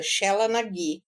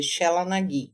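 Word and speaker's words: Sheela na gig: Eu acho que isso é a expressão toda de uma deusa que se chama, na cultura celta, Shela Nagi.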